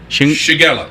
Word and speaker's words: Shigella: room because they had almost what they called shingilla, Shigella. How you pronounce that? Shigella.